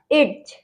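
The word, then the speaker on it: edge: एड्स मतलब किनारा, एज। Okay, और नेक्स्ट है हमारा वेज। वेज में भी डी साइलेंट रहेगा, क्यों?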